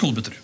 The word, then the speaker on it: Kolbøtter: Ja, men det uttales Kolbøtter.